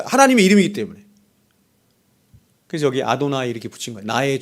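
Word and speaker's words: אדני: 그래서 여기 아도나이 이렇게 붙인 거야.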